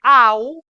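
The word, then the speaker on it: ao: Esta primera, este au, esa A con la O se lee au.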